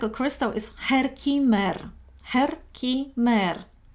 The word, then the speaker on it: Herkimer: Herkimer. I have no idea how to pronounce it right in English, but this is how it's pronounced in Germany.